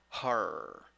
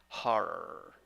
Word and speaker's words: horror: Number 3, 6 letters, 5 sounds, 2 syllables. The first syllable is the stressed syllable. The vowel, ho, o. With H before it, it will be ho. All right. In the conclusion, you don't. In the second syllable, you don't have o. You have schwa.